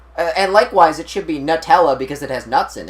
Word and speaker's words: Nutella: And on one commercial, they did say Nutella, but they're wrong. It's pronounced Nutella.